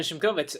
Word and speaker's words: Shimkovitz: This is Shimkovitz, and yes, that is actually how you say it properly.